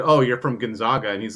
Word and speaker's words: Gonzaga: He would never have pronounced his name Gonzaga. It would be Gonzaga.